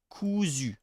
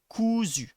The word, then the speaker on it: cousu: And then you will try to pronounce both U and OU. For instance, you can try this word in French. Cousu.